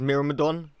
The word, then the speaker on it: Myrmidon: try out the Myrmidon I think it's me Ramadan yeah that's how you pronounce it so I'm just gonna